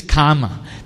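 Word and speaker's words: kāma: in this condition called kama bhava here this word karma does not mean your your action trauma no this is karma the a is pronounced long and M is pronounced short karma where is the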